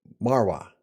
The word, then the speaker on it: Marrouat: any who this is s Sandrine don't Mara good all right natural natural I've been practicing